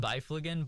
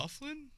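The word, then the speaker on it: Byfuglien: I mean, he's not a Dustin Bifleigan, but B whatever. Ignore that. Ignore that. I don't know how to say his last name. Dustin Bufflin.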